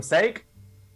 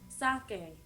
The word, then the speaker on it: sake: Sake, y'all. Sake. It's called sake. But it's spelled steak. It's an accented E. Huh? It's a fancy E. It's an E with a little hat on it, Nico. It's sake.